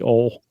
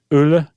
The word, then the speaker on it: Ole: moment, we've called everybody Ole. All right, so what is it again? Ole or what? Ule. Uh Ule Luk Øie.